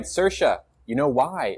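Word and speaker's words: Saoirse: no one ever okay I got it right sersha you know why it's because of sersha ronin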